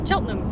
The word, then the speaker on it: Cheltenham: Cheltenham. That's what it is. We learned that Cheltenham. We learned that the correct way to pronounce British towns is just to take every shortcut through the word possible.